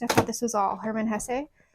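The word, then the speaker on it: Hermann Hesse: thought this was all Herman Hess um which I believe is how his name is pronounced because my sister was a German major for a bit other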